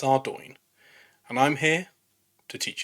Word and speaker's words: Ardougne: how to pronounce it I called it our dougy until I was a grown man but it's not our dougy it's ouro and I'm here to